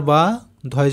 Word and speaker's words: বাধ্য: বয় আকার বা, ধয়ে জফলা ধো, তাহলে বাধ্য।